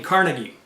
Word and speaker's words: Carnegie: the game Carnegie now being of Scottish descent myself I felt like I should try to say his name a little bit more like how he would have said it which should be more like carnegi but every time I